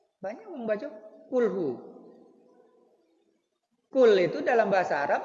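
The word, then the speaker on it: قل: Makanya harus ada penekanan q bukan kaf tapi qul.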